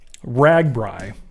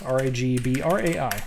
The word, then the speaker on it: RAGBRAI: midwest you know what this is but um ragbrai which is i'll spell it out it's this r-a-g-b-r-a-i ragbrai and it stands for the register's great